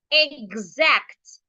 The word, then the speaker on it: exact: So because the vowel sound is a voiced sound, the X will sound G. The X there should sound G. So the word is exact.